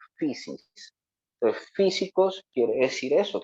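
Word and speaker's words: φύσις: Precisamente porque la palabra naturaleza en griego antiguo, pues aquí yo se las pongo y se pronuncia physis.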